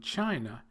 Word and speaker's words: China: the second syllable, whereas the first 3, Russia, Thailand, and China, have the stress on the first syllable.